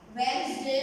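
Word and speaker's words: Wednesday: वेडनेसडे में डी को हमें साइलेंट कर देना है।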